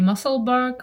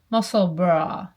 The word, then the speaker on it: Musselburgh: I always say muscle bark or muscle burrow, but it is like Edinburgh. No, a bra is something else. Muscle bra.